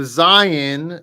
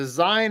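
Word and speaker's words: זין: The Zayin makes a Z sound, just a straight Z, like Zorro, okay, or Zebulun, okay.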